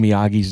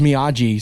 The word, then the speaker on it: Miyagi: point of everybody mispronouncing miyagi's name cuz Daniel says Miagi several times and then he corrects him no it's Miyagi okay and then other characters